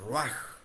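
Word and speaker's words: רוח: Se se escribe roach, pero se pronuncia raj.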